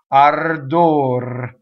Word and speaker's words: ardor: will also roll so final R when there's a rest after it or when there's another consonant again if it touches the consonants all it needs it will roll so in this form because we have a rest afterwards outer door and in no way do we let the O get influenced by the our it's not door right what we do